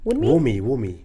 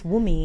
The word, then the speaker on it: Wunmi: Wumi. Is it Wunmi? Let me see it. It's spelled Wunmi, but I guess it's Wumi.